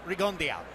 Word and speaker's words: Rigondeaux: Michael buffer used the traditional French pronunciation read on though and I would have gone there to accept that Guillermo gives it a little Cuban flavor he says its Regan day out just as max just just pronounced it this is the forty